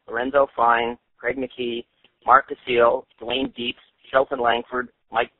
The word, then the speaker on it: Basile: Is that the correct pronunciation, Mark? Mark Basile? Basile, or Basile. Mark? Mark? Yes, no, it's Basile or Basile.